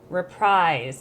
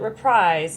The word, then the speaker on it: reprise: As you guys think that I say repreeze wrong, but technically it is repris because it's a French word and that's how you pronounce it. But everyone calls it reprise.